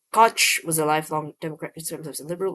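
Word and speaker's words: Koch: Oh, it's cotch. Oh, okay. Sorry. One second. American politician. He served in the US House of Representatives from 1969 as mayor of New York City from 1978 to 89. K. Cotch was a lifelong democrat liberal with sanity.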